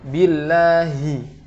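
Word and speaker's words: بالله: Kemudian pada huruf ha, billahi, hi, harus diucapkan dengan sempurna dari makhraj yang tenggorokan terdalam. Billahi, tidak billahi minas, tidak seperti menghilangkan huruf ha kemudian hanya tersisa kasrohnya saja. Maka ini tidak diperkenankan, harus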